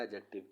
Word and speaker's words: adjective: करना है वो मेरा एडजेक्टिव का है य तो याद रखिए इसमें डी साइलेंट होता है एडजेक्टिव इसे करके पढ़ते हैं डी को इसमें प्रोनाउंस नहीं किया इसमें सिफत इसमें आप